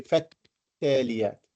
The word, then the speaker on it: فالتاليات: فالتاليات ذكرى. التاليات. We don't say فل, we say فالتاليات.